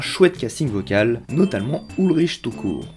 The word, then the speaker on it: Tukur: En effet, Felidae a la chance de composer avec un chouette casting vocal, notamment Ulrich Tukur. Et pas tout court quoi.